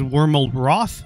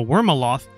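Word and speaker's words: Wyrmalroth: is this guy's name his name is wormal Roth there we go it was very tricky to pronounce so worm aloth w y r m a l r o t h Lord dragon and zoom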